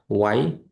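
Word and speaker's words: why: তো এই যে চারটা গেল, হোয়াট, ওয়াই, ওয়ার, ওয়েন, এই চারটাতেই এইচ উচ্চারণ আসবে না। হোয়াট, ওয়াই, ওয়ার, ওয়েন এরকম উচ্চারণ হবে।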